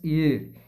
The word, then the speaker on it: heir: Here the here means ear. Ear pronunciation H is silent.